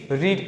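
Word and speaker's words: read: V3 यूज करेंगे तो ये रीड का V3 क्या होता है, सेम रहता है, लेकिन उसका प्रोनाउंसिएशन कैसा होता है, थोड़ा चेंज होता है। The newspaper is नॉट रेड बाय।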